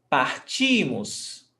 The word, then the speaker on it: partimos: Então, nós partimos. Stressed syllable before last. Partimos. E vocês partem.